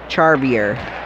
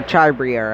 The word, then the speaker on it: Charbrier: Picked up by Brandon Charbier. Or Charbrier, I should say. That's how you pronounce it.